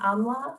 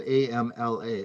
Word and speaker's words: amla: Is Bhumy amalaka the same thing as mountain amla or Indian gooseberry?